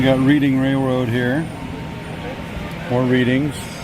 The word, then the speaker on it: Reading: reading railroad here more readings yes I said it wrong I know you guys pronounce it reading but just throw in